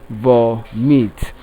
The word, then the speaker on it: vomit: on the first syllable, while option D, vomit, also takes its stress on the first syllable.